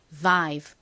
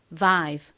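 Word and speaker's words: vibe: 참고로이 가장 앞에 비읍 소리는요. 그냥 브 소리가 아니라 진동이 들어간 소리입니다. 그래서바이브가 아니라 실제 영어 발음은 vive vive 이렇게 발음해요.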